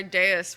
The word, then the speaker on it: Deus: It's the Roman V that turns into a U. It's Deus. The machine is literally God.